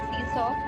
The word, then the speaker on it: CSRF: फ्रॉस sighting request present सो इट is also a pronounced as सी सर्फ और एक्स एसआरए एंड